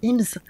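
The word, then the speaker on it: Eames: mon compte Insta, c'est le couple IMS. C'est ça s'écrit E A M E S pour nos auditeurs.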